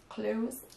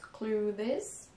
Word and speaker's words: clothes: So remember, not clothes. Right. 1 syllable, and it's a Z sound.